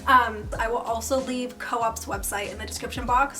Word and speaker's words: COOP: I will also leave co-op's website in the description box so you can get all the specifics so if you are unfamiliar with Co-op is pronounced Co-op not Coupe I literally was saying